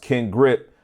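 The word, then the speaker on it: Kin Grip: I believe it's pronounced Ken Grip. I like how that is, if that's how it is, bro, because K-I-N like Ken Folk and then the grip.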